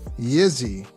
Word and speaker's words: Yzzi: And I don't how do you pronounce that? Is that Yzzi or Yzzi? Yzzi.